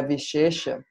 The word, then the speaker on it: viśeṣa: A outra palavra, que é a Vishesha, Vishesha. Na verdade, a pronúncia é vishesha. O primeiro é S com acento agudo, o segundo é com ponto embaixo.